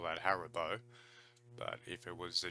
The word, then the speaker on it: Haribo: would just call that Haribo but if it was a German pronounce pronunciation it's probably more like har Hari boat and probably stress on the eye Haribo I would say I've